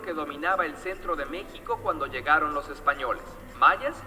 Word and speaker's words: México: De hecho, de ahí viene el nombre de mexicano o México, y por eso se escribe con X, ¿sí? Aunque se pronuncie con J, porque es una tradición propiamente de ellos.